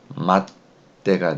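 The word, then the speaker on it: 待って: 자, 그러면은 마찬가지로 이 끝에 있는 글자가 사라지고 으때가 오는 거예요. 그러면은 발음이 맞대가 되겠죠. 맞대.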